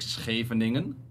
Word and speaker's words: Scheveningen: we said words like Scheveningen, which is like a name of a city, but it has like the SCH, mm-hmm.